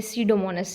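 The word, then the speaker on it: Pseudomonas: एंड डिनाइट्रिफाइंग bacteria में सडोमोनस है। ठीक है? बी साइलेंट होगा इसमें।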